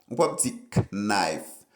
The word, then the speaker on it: knife: pour prononcer en anglais ou pas prononcer Knife plutôt dit knife knife knife mo ça lui même